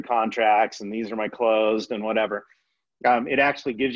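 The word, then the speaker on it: Cloze: But currently I use a software pack or an app called Close. And it's spelled C-L-O-Z-E instead of S-E.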